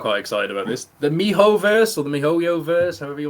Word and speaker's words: miHoYo: Hate is silent. Mihoverse, excellent.